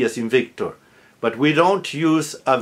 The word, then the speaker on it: Victor: Victor, Victoria, Veronica. All with a B like boy, spelled with a V, but pronounced with a hard B as in boy because it's initial.